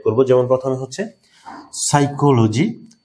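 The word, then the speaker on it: psychology: সাইকোলজি, এখানে কিন্তু P silent হয়ে গেছে।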